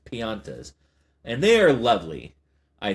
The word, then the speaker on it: Piantas: Because it looks like pinatas, but it's Piantas.